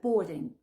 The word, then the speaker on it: boarding: Ne prononce pas le A. Tu dis juste the boarding.